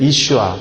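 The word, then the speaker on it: ישוע: 입력한 것입니다 예수는 여호수아예요 유대인들은 이슈와 그렇게 발음하는 그 이름인데 사실 흔한 이름입니다 우리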